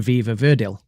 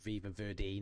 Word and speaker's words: Viva Verdi: Sweet Dreams of Joy from Viva Verdil. and Train Dreams from Train Dreams. So none of us picked Sweet Dreams of Joy from Viva Verdi, not Viva Verdale.